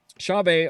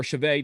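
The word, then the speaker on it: Chauvet: we're going on to shave or chave depending upon how you say it right John what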